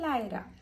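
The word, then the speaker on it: Laira: केले माझ्या बाईचे नाव लायरा लायरा Narvekar लायरा spelling अ एल ए आय आर ए लायरा क्चुली ते लयरा सुद्धा प्रोनान्स करता आम्ही लायरा म्हणता सो ते आम्ही नाव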